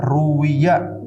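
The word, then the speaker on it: رُوِيَ: Nah, makanya kan dibacanya Ruwiya, ro-nya di dhammah, wawunya di kasroh.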